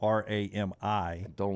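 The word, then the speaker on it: Rami: have named it Remy Remy spelled r-a-m-i pronounced his name was Ram I didn't know that yeah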